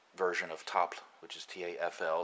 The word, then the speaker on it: tafl: of top which is tafl it's an old norse uh game the old norse pronunciation of the game is called top and there's different versions